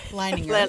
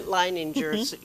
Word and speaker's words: Leininger: I'm Elaine Conyers, and today our special guest is Leininger. Did I pronounce that right? Leininger. Leininger.